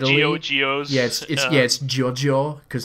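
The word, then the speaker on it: GioGio: Geo's yes it gets Jojo cuz that's how Italians would pronounce it but that's G or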